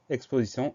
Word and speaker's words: exposition: Et ensuite, on a la syllabe sion qui va s'écrire TION. Donc le son T, la lettre T va se prononcer S. Exposition EXPOSITION.